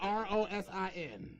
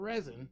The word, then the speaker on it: rosin: Because it's spelled R O S I N. Not resin. It's rosin.